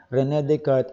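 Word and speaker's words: René Descartes: until the 16th century renee descartes pero the proper pronunciation is rene descartes introduced the so-called cartesianism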